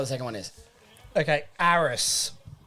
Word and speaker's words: Ares: Okay, Ares, I believe it's pronounced, is the Greek god of war and Ares? courage. Is it Ares? It's spelled A-R-E-S.